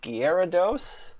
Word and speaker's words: Gyarados: Okay, so I'm told it's pronounced Gyarados, which isn't how I would pronounce that, but that's okay.